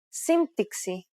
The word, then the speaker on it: σύμπτυξη: For example, the combination of M and P in Greek is never pronounced as B when followed by a T sound. Every letter in this case is pronounced separately.